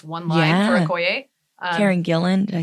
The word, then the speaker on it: Gillan: back to voice one line for a Karen Gillan. Did I say her name right? Yeah Karen Gillan which was really cool seeing her not all